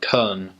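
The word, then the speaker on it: Köln: middle of Germany and in German it's actually called Cohn and so a lot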